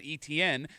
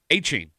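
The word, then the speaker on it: Etienne: The way it's pronounced, it's not ETN, it's Achain.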